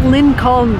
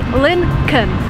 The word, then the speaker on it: Lincoln: It's not Lincoln, the way it's written. There is an L before N. When you actually pronounce it, you say Lincoln.